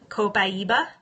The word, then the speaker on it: copaiba: long time to learn how to say it copaiba and I actually use this lean to address